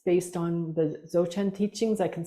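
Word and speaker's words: Dzogchen: curious about this practice it's based on the zochan teachings I can spell that for you d z o g c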